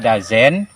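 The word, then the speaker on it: dozen: Eneng jadi Dino itu memang dibaca dazen seperti itu enaknya dan seperti itu unit speaker mengucapkannya jadi kita contek dan Aya penutur aslinya orang Inggris itu atau orang America itu Hai does not itu diucapkannya dazen karena kita belajar bahasa mereka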